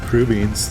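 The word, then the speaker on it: crubeens: So yeah, crew beans, that's how you say it.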